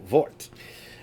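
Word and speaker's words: Würze: or vert vert uh the W's in German are pronounced like V's so vort uh and has a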